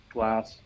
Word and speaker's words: glas: Glass. Yeah, means glass, green? Glass. I think the A normally sounds like the O in mop in English.